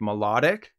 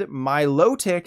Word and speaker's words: Milotic: people on Reddit were upset that it's not pronounced melodic like melodic instead Milotic is the correct pronunciation they were mostly harping